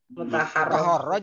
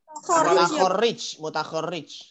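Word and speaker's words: مُتَخَرِّج: Mutaharraj apa mutaharrij? Bacanya sorobnya biar betul. Mutakharrij.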